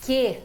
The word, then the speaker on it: Q: Que, letra Q. Ai, ai, ai, ai, ai. Olha só, a pronúncia é que.